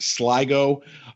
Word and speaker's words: Sligo: of ireland called i believe it's pronounced sligo uh s-l-i-g-o and in uh june